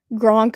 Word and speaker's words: Gronk: Gronk of the Bucks rhymes with Kronk from Emperor's New Groove.